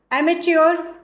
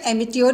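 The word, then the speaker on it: amateur: Attempt to save natural resources, एमेच्योर, दोस्त हु आर not expert, जो शौकिया तरीके से काम करते हैं उनको कहा गया है। इसका प्रोनाउंसिएशन एमिच्योर भी करते हैं और एमेच्योर, दोनों ही करेक्ट है।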